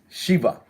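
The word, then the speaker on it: שבע: times now we're introducing seven so seven means sheba is how it is pronounced chiba-chiba is how it's pronounced in Hebrew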